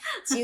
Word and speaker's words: Tjioe: Nah, nulis Chu-nya nih Chu-nya gimana itu nih? adalah TJIOE. Ejaan lama. Ya, pakai ejaan lama ya. Mungkin kalau adik-adik kita yang milenial nih ejaan lama ini apa? Chu itu TJ. TJIOE ya.